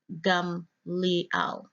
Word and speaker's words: Gamaliel: Strong's H 1583 and pronounced there as gum Liao if you look at